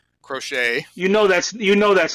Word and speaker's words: Crochet: get, like the great Garrett Crotchet. Is that how you say it? Crochet.